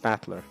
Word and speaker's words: Battler: this the problem is my own name is made up of the characteristic fighting person and it's pronounced battler but it all put